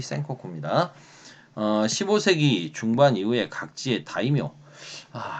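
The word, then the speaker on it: 戦国: 아니 한자로는 전국이고 일본말로 발음으로 전국의 센코쿠입니다.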